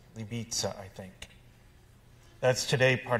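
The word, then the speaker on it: Libice: castle in libya bohemia l-i-b-i-c-e i don't really know how to pronounce it libiza i think that's today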